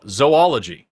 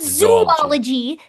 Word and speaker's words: zoology: Oh, zoology. Zoology. Zoology. Not zoologology. Not zoolology.